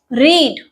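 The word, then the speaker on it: read: रीड, पढ़ना, ठीक है। रीड का पास्ट कहलाएगा रेड, इसको हम बोलने में डिफरेंस रख रहे हैं, रेड, ठीक है।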